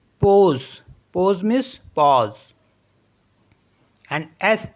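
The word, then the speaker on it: pause: next word है पी ए यू एस ई पोज पोज means पॉज एंड एस ए यू सी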